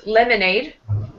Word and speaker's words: lemonade: This word is lemonade. Lemonade. So first syllable will be the strongest part.